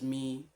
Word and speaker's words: mi: So, and this is pronounced as do, this is re, this is mi, this is fa, so, then you have your la, ti, and then you can repeat the first one, which is do.